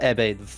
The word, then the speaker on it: Ebbe: It's also named Ebbe. That's how it's pronounced, by the way.